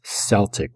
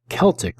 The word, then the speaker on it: Celtic: pony by the way it is not celtic with a soft sea it is celtic with a hard see and this festival was